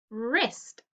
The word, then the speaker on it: wrist: wrong is with wr wrist is also with wr rhubarb is with